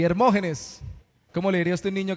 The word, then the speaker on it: Hermógenes: Y Hermógenes, ese sí tiene tilde en la O, ¿no? Hermógenes.